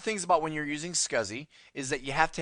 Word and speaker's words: SCSI: your high-end systems is scuzzy okay s-c-s-i it's pronounced scuzzy basically this is also